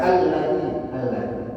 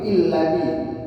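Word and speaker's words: الذي: Dan patokannya biasanya kalau huruf lam itu pasti fathah, nggak mungkin illadzi, pasti fathah, pasti a. Maka dibacanya alladzi, bukan ladzi tapi alladzi.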